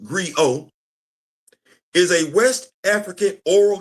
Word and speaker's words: griot: The T is silent. The living, breathing historian of Wakandan history. To fully appreciate that, let's define what a Griot is. A Griot, pronounced Griot, is a West African oral historian, musician, storyteller, and poet.